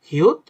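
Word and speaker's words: 히읗: ফু ফু হু অর্থাৎ বাংলা ব্যঞ্জন বর্ণে আমরা যে হ উচ্চারণ করি হ্যা হাস তো এইসব জিনিসটা হচ্ছে হ দিয়ে উচ্চারণ হয় তো কোরিয়াতে এটাকে বলে হিউত বা এটাকে উচ্চারণ করে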